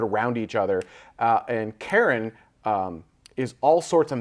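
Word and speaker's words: Charon: Sharon is incorrect and Karen is correct.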